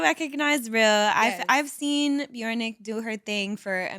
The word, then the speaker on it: BJRNCK: And my name is pronounced Bjornik. Okay, because it's spelled like BJ. Yeah, it doesn't have any vowels.